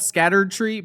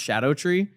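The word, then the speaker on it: Scadutree: I guess it looks like it's called Scattered Tree, but it's apparently pronounced Shadow Tree.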